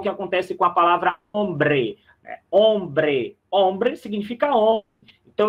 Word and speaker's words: hombre: Porque o H não soa, nós já vimos isso na nossa passada sobre o alfabeto.